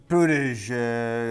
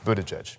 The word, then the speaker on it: Buttigieg: Yeah, so what we say is you say the word boot and then the word edge and then the word edge and you got it. Buttigieg.